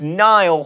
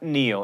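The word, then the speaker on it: Niall: dollar sign it's kesha it's nile horan not neo and for those of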